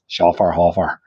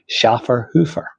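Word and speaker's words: Schöfferhofer: Iron pronunciation and apparently how you're supposed to pronounce it. So, I call this Shaer Hoffer. Uh, but apparently it should be pronounced Schaer Hoofer.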